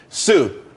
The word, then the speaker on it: Tsu: everyone could be happy Sue TSU it's pronounced Sue though that's that's a website.